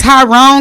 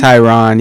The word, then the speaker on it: Tyron: Well, I know it's not Tyrone because it don't have the E at the end. Yeah, it's spelled like Tyron, yeah. Okay, but it's Tyron.